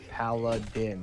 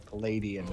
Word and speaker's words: paladin: who call it pilates piss me off it's paladin not paladin or palladian what the is palladian well